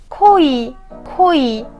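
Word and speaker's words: 거의: word “hoeui” “hoeui”or ” geoui” “geoui” I can pronounce “geoi” too but “geoui” is correct and easier And the next point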